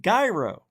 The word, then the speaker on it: gyro: oh there we go the gyro not the J it's a hard G gyro I asked that's how